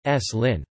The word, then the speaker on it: Slim: The epenthetic, e, is pronounced even when it is not reflected in spelling, e.g. the surname of Carlos Slim is pronounced, s. Lin.